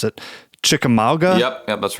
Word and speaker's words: Chickamauga: I also really like, I hope I can pronounce it, Chickamauga. Yep, that's right. Any idea if I'm pronouncing that one correctly? Chickamauga, you said it correctly.